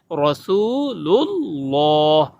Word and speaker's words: রাসূলুল্লাহ: লুল্লাহর জায়গায় অনেক বলে রুল্লাহ, রুল্লাহ র দিয়া বলে, র দিয়া হবে না, লাম দিয়ে হবে রাসূলুল্লাহ। অনেকে লা বলে, রাসূলুল্লাহ বলে, লা হবে না, ল হবে মোটা করে।